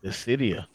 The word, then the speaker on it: Dissidia: I can't pronounce the first. What is it? Dissidia. There you go. Dissidia.